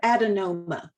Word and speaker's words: adenoma: some of these words look at the word adenoma it's got two schwas that first schwa is spelled with an e that second schwa is spelled with an a then look at indecipherable